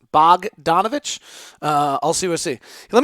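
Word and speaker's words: Bogdanović: far someone's telling me I'm pronouncing bog its bouillon Bogdanovich is the better way to pronounce it okay or the correct way to pronounce it Bogdanovich I'll see what see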